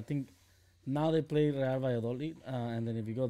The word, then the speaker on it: Valladolid: I think now they play Real Valladolid.